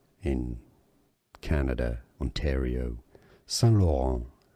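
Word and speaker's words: Saint-Laurent: San Lauron. S. Yes. The T is silent in French. San Lauron in English.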